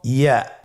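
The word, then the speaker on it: ياء: ইয়া উচ্চারিত হয় জিহ্বার মধ্যখান তার বরাবর উপরে তালুর সঙ্গে লাগিয়ে উচ্চারিত হয়। আমরা জিহ্বার মধ্যখানটাকে উপরে তালুর সঙ্গে লাগিয়ে উচ্চারণ করি ইয়া।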